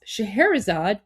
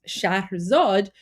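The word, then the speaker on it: Shahrzad: Um, and of course the the the princess the princess in that story um her name was Shaherzad, which is actually pronounced Shah Zad, which is an Iranian name, by the way.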